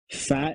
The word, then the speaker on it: phat: play fact base specifically what is fact base fat it's spelled p-h-a-t okay i'm 46 years